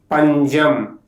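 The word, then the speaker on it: പഞ്ചം: When the letter sa occurs after nasal, it pronounces as ja. For examples, anjal, which means post. panjam, which means scarcity.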